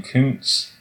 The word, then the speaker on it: Kuntz: Well, hold on now, because this guy, he pronounces his last name Kuntz.